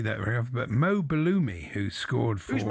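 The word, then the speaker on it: Belloumi: He's the only footballer whose name rhymes with a Greek cheese.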